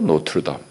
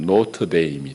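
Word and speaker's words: Notre-Dame: 그래서 미국식으로 읽으면 노트데임이 됩니다. 노트데임, 노트르담입니다. 프랑스말 노트르담을 자기식을 읽어버리는 거예요.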